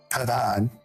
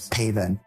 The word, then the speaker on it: Pavon: N, Steven Jaeger, Matthew, as they like to say in Frenchland, Matthew Pavon. We don't know how to say it any other way in Frenchland, but Matthew Pavon. I mean, we're in America. It's Pavin. Matthew Pavin.